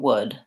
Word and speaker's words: wood: So the word would has my vowel and the W and the D, and that's exactly the same as would. So I would like some wood. There's no difference between those two pronunciations, even though we have